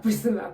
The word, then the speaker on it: Priscilla: my youtube channel crystal Akuma no more Priscilla Priscilla come on yes so how do we adjust to a new name pronunciation of everything and it has come to